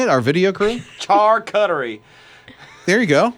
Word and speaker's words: charcuterie: what would you put on yours uh the charcuties yeah forward sure kid report um i don't